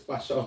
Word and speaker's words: Pascal: In French, you will read this as Pascal.